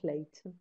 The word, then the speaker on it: plait: یادت باشه دوتا pronunciation براش هستا هم plait هم plait.